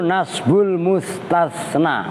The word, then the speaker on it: nasbul mustasna: Nas itu shad, musin tasa. Kan 3 S tapi beda-beda. Ya enggak? Nasbul mustasna. Gue tulis biar lu enggak ini nas, maka makhraj penting. Nasbul mustasna. Oh, ini kan sin tapi sinnya kan shad. Shad itu kalau ini SH. Mus. Ini sin S biasa. Ini tas. Nah, tasnya itu TS. Nasbul mustas. Nah itu kudu bener bacanya. Jangan wajib nasbul mustasna, ya salah.